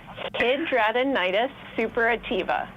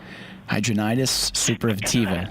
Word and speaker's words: Hidradenitis suppurativa: Hidradenitis suppurativa. There it is. Hidradenitis suppurativa.